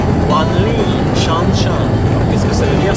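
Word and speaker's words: 万里长城: Donc la grande muraille de Chine se prononce Wanli Shanshan.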